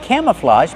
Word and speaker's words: camouflage: Use the open a sound like ham and ma'am, cam, plus the short sound, cama, relaxed, camouflage. And the open ah like hot and stop.